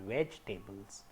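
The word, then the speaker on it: vegetables: तो हम यहाँ पे आई को हम ये कह सकते हैं कि आई इसमें साउंड नहीं देता, तो the exact pronunciation is वेजिटेबल्स.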